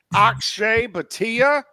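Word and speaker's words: Akshay Bhatia: Ashe Batia. Pretty sure that's how you pronounce his name.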